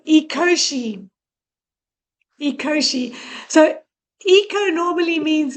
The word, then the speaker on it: Ecoshe: Okay, so you say it like eco. E o eco and then she like sh h e when you say he or she. So it's eoshi.